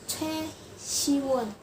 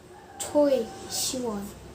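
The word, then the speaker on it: 최시원: Jadi harusnya namanya Che Siwon, bukan Choi Siwon.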